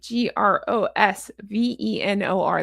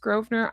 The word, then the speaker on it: Grosvenor: When I went to London, I didn't know it was pronounced Grosvenor, I thought it was Grosvenor.